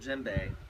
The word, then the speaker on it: djembe: for this trip because it sounds like it starts with the letter J or maybe G but it doesn't anybody know what letter it starts with me spell it out why starts with a D weird huh yeah actually the first two letters in the word djembe are DJ so I guess the reason